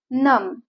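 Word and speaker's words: numb: फो नेस्ट फ नेस्टिंग नम नम मीन्स बधीर होणे किंवा सुन होणे इथ स्पेलिंग आहे एन य एम बी बट B silent letter prawns नम नम मीन्स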